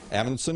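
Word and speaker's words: Amundsen: Ammonson? I don't know. Pronounce that again? Ammonson. Ammonson. Ammonson is right.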